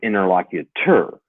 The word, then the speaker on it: interlocutor: healer it's actually interlocutor but it felt like interlocutor but like I said I've read that word